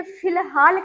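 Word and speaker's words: فی الحال: तो देखिए फिलहाल कैसे लिखा जाता है फिलहाल में देखिए कि फी और अलिफ लाम और हे के साथ अलिफ और लाम बन गया फिलहाल।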